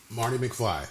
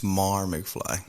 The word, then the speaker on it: Mar McFly: my name four times Marty McFly it's Mar McFly Mar McFly my bad